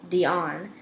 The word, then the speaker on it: Deanne: She liked to pronounce her name Dion, and, though she worked as a bank teller, she pretended she could paint better than Van Gogh.